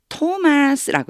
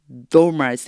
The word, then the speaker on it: Thomas: 디두모라고 알려진 바로 그 도마가 요때 토마스라고 읽어 주셔야 돼요. 도마스 이게 아니고이가 그냥 t로 발음이 나요.